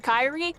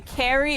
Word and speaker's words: Kyrie: It's like one of those that be like me with my name, Kyrie. So many people say Carrie or Karai defeated.